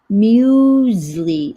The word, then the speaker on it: muesli: Muesli. Oh, muesli. That's how it's pronounced.